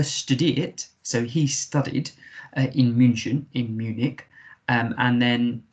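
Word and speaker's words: München: munich in germany uh munchen as it's pronounced in germany really lovely uh city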